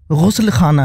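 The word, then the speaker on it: ग़ुस्लख़ाना: आप लोग जनरली बहुत लोग बोलते होंगे गुसल खाना दरअसल वो गुस्ल खाना है ग के नीचे भी नुक्ता है और ख के नीचे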